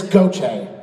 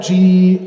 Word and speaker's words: Gautheir: It's Gautheir. So you would say, it's kind of like Gochay, Gautheir.